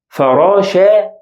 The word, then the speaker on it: فراشة: And here فراشة, فراشة. I pronounce it as ta sound.